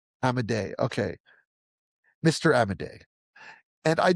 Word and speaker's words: Amodei: How do you pronounce his last name, Andrew? Dario Amodei. Amadei.